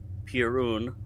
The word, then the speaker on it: pirun: have water, which is Pirun, P-I-R-U-N, and is pronounced P-E-R-U-N, Pirun, water.